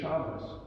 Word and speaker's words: Shabbos: That's where you get Shabbos. So some people think if you call it Shabbat, you're showing your ignorance. It's just another way to say it, colloquialism, you might say.